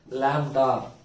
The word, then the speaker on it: lambda: இது எப்படி ப்ரொனவுன்ஸ் பண்ணணும்? Lambda.